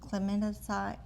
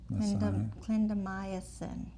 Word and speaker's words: clindamycin: Twice a day for oral, and this is clemidocine. I'm not saying it right. I do know how to say it, but sometimes I can't Sounds right. pronounce it. Clindamycin.